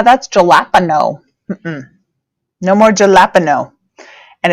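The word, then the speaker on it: jalapeño: in Spanish correctly so the J sounds like H so that means my J here is going to make a ha sound so and my a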